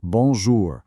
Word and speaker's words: bonjour: It's bonjour with a very soft, almost silent R.